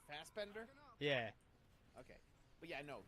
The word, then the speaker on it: Fassbender: just did you say Fastbender did I say it wrong it's fast but they're like fast without the T it's not Faz like Fazbear okay Fastbender yeah okay but yeah